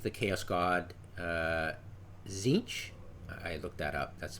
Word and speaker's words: Tzeentch: They're like the Chaos God Tzeentch. I looked that up. That's the proper pronunciation.